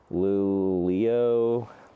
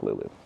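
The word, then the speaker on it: Luleå: Like Lul Leo. No, it's Lulu.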